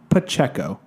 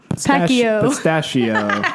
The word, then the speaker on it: Pacheco: little bit confusing, but it's just Pacheco. What do people think it is? Pacheco. Yeah. It's exactly how it's spelled. Yeah. But I have heard almost everything. Pacheco, pistachio.